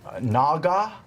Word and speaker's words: naga: Uh Naga. I think that's how you say it.